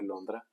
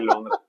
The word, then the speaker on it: Londra: Este, pero bueno, el desmadre está en que, ¿Sabes que en italiano se dice Londra? no, no sabía. Se dice Londra.